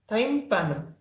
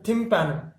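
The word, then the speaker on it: tympanum: तो ear drum का scientific name है थाइम्पैनम या थिम्पैनम। थाइम्पैनम या थिम्पैनम, जो भी आप इसको प्रोनाउंसिएशन करना चाहो।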